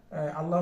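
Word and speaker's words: الله: এই যে আলিফ, লাম, ও এখানে 4টা হরফ, 2টা হরফ শিখলেই, 3টে হরফ শিখলেই আমরা আল্লাহ শব্দটা লিখতে পারবো। লাম তো 2বার উচ্চারণ হয়, এই যে একটা হা।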